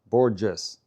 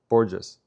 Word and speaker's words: Borges: Semito says it's a J sound, not an H sound. Borges. Borges.